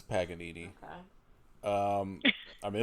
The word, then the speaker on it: Paganini: You butcher the Italian language. No, it's Paganini.